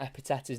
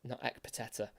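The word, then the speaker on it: Ekpiteta: back three for Blackpool, it's a silent K. I couldn't believe it. I was trying to work out how you say his name. I was like, Ekpeteta? But I've heard him say his name, and that K was certainly silent. So it is Epiteta, not Ekpeteta, or anything like that.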